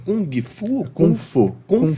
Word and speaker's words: Kung Fu: É Kung Fu? Kung Fu. Kung Kung Fu. Fu. É, o G não se pronuncia.